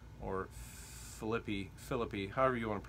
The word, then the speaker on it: Philippi: So Paul is addressing this conflict that's happening in the church at Philippi, or Philippi, however you want to pronounce it. I usually pronounce it Philippi.